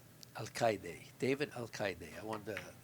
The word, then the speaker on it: Alcaide: Alcaide, David Alcaide. I wanted to get the pronunciation straight, so I asked him.